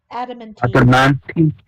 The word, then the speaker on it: adamantine: Adamantine.